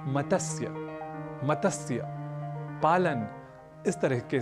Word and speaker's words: मत्स्य: हम कर बैठते हैं क्योंकि त स और य ये तीनों ही व्यंजन वर्ण है और इनके मध्य कहीं भी अ या स्वर वर्ण नहीं है इसलिए मतस्य कहना तो अशुद्ध है हमें इसका उच्चारण करना चाहिए मत्स्य और संस्कृत में मत्स्य